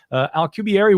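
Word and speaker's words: Alcubierre: 1990s Miguel Al alary I believe is how he pronounces it alary worked out the mathematics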